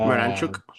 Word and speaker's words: Miranchuk: Uh, Miranchuk, if his absolute screamer of a goal in the 90 dude, plus that was a 9 minute banger.